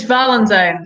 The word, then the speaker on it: Valentine: your name so oh it's it's Valentine like the like the saint okay uh we have